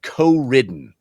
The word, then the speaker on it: Coridden: Co ridden Co ridden I've heard people pronounce it co ridden but it's clear r i DDE n co- ridden clearly a take on the fact that you you can play in Co-op and ride each other I'll get to that